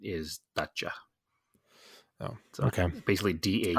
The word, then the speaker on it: Dacia: And I just looked it up and it says the pronunciation is Dacia.